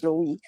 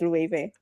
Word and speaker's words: Loewe: Well, I think a lot of people Okay, a lot of people pronounce it as Loewe, but it's pronounced as Loewe.